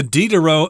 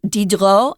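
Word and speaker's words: Diderot: uh deni they don't pronounce the s in uh France so deni dedro and they off they often don't even say duh in the middle dedro so yeah it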